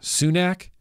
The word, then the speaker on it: Sunak: Yeah, Sunak.